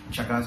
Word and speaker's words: Chagas: It rhymes like that. Chagas disease resembles or rhymes like mega disease.